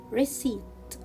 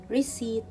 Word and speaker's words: receipt: letter in this word and the last word is recite i will not pronounce letter p so it will be recite so let's read these